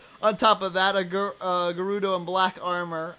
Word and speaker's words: Gerudo: On top of that, a Gerudo in black armor. I know I mispronounced that. So No, actually, that was correct.